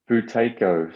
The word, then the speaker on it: Buteyko: make sure we're pronouncing it correctly yeah it's futeko so it's spelt b-u-t-e-y-k-o and it was developed by a